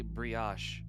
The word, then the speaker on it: brioche: actually just looked up the pronunciation of that word. It is actually brioche.